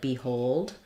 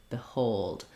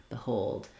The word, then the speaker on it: behold: an I sound because the hold is what's stressed. So we have a clear vowel on the O, but a reduced vowel on the letter BE. So it sounds more like behold, behold.